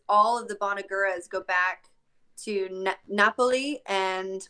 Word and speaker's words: Bonagura: Bonagura is the right way to say it, right? Bonagura.